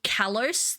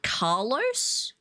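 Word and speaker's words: Kalos: Instead of callous, they call it Carlos.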